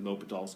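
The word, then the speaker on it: L'Hôpital: of my classes he made a big deal pronounced it correctly l'hopitals but there was one day that he was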